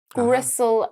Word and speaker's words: gristle: Well, we've got quite a few that rhyme with Okay. whistle, bristle, gristle, and thistle.